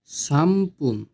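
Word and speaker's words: さんぷん: 3 minute সামপুন। সান পুন। এটা লেখার ক্ষেত্রে হয় সানপুন, কিন্তু এটার উচ্চারণ হবে সামপুন, ময় প রসুকার ন।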